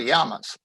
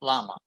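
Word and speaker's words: llama: native camellits first the yamas i'm going to mention that i am pronouncing this as it is in spanish the double l is pronounced like a y in english so it's yama not lama if you say lama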